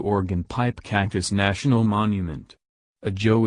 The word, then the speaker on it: Ajo: pipe cactus national monument a Joe is the Spanish word for garlic Spanish pronunciation XO the Spanish may have